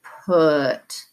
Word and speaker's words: put: a tricky word because you see the U and you want to go up for a short u sound but it's not the vowel sound is uh you need to say put now we're gonna move